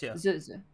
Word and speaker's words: Zuzia: I turn towards is Zazie, right? I may say it wrong. Zuzia. Zuzia.